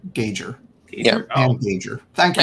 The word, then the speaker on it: Gauger: It rhymes with major, so gauger.